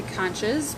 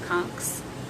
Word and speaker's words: conchs: I know some people say conches, but that e is silent. It's not like the normal e s as at the end. It's just conchs.